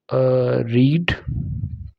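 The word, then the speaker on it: read: रीड, second form को रेड बोलते हैं और थर्ड फॉर्म को भी स्पेलिंग एक होती है लेकिन बोला अलग लग जाता है, रीड, रेड, रीड।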